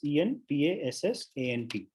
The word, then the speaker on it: en passant: Now, the second special rule that we're going to learn is called en passant. Let me spell it out for you. It's a French term. So it's spelled En, it's two words, ENPASSANT, and it's pronounced en passant.